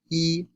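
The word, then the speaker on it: 一: as first tone but its pronunciation changes according to the following tone Sandy rules before a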